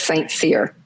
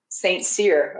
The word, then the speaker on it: St.Cyr: you is it Saint how do you say your last name it's St Seer Saint seir okay should have asked